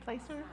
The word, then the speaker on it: Placer: who don't live in Placer County. Am I saying it right? Placer Plaster Placer sorry people who don't